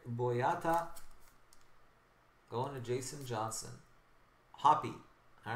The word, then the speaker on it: Hoppe: Peter, you got Salif Sané patch, Hope patch, prime patch to 25 rookie, and Hope autograph to 25 rookie. So if you're a Matthew Hope or Hoppe, how do you pronounce it? Hop.